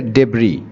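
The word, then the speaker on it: debris: অথবা ডেব্রি বলতে পারি ডেব্রি এটার উচ্চারণ হবে ডেব্রি এসটা উচ্চারণ হয় না ঠিক আছে মানে সাইলেন্ট থাকে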